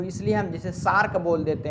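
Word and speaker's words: SAARC: सार्क country तो क्या सार्क यानी एस ए ए आर C country नहीं कहते ना क्या हम कहते हैं सार्क कंट्री तो हम क्या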